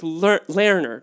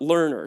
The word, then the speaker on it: Lerner: It's Lerner, not learner, too.